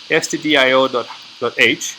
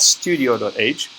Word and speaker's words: stdio.h: This file, stdio.h, and it's not studio.h, as some might be tempted to misspell it. It's stdio standing for standard input output, right?